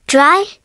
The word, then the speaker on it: drei: eins, pronounced like eins, zwei, pronounced like tsvy, drei, pronounced like dry, vier, pronounced like fair, fünf, pronounced like fünf, sechs,